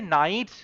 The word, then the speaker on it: knight: নটস নাইটস, নটস নাইটস, দেখো নাইট অর্থাৎ যেখানে তুমি সেনাপতি বা সৈন্যদের কথা বলছো সেক্ষেত্রে কিন্তু সামনে একটা কে বসানো হয়, তার উচ্চারণটা সাইলেন্ট থাকে যদিও।